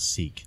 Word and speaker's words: Sikh: He pronounces it sick instead of Sikh. I think sometimes people can pronounce it either way.